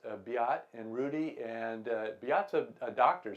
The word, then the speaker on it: Beat: the second swiss team be ott is is it looks like beat but is pronounced be ott and rudy and Piazza